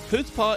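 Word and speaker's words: chutzpah: or that's fast oh it starts the H sound so the C is silent puts ha extreme self-confidence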